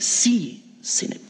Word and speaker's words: synod: Am I pronouncing that right? Synod.